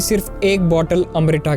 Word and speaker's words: अमृत: भी सिर्फ एक बोतल अमृता के लिए जो ह्यूमन बीइंग्स की एजिंग को रोक और ये अंग्रेज हमेशा से हिंदी शब्द को गंदे तरीके से प्रोनाउंस करते हैं ये अमृता नहीं बल्कि अमृत है और इसी अमृत को